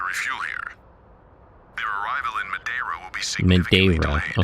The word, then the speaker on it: Madeira: Their arrival in Madeira will be significantly Madeira. delayed. Okay, so that's how it's pronounced.